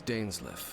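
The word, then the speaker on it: Dainsleif: someone accompany you on your travels my name's dainsley i suppose you have some business with me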